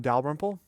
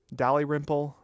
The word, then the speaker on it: Dalrymple: He claimed that my last name, which is Scottish, is actually pronounced Dalrymple. I guess I shouldn't be surprised because I've heard my name mispronounced all my life. Dal-RYM-ple, Dalyrimple, Daredevil, Rumpelstiltskin. I've heard it all.